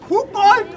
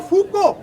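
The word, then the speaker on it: Foucault: फुकाल्ट और फूको, हम लोग फुकाल्ट बोलते थे, तो क्या पता है वहाँ फूको बोला जाता है, और जब हम फुकाल्ट बोल देंगे जीरो।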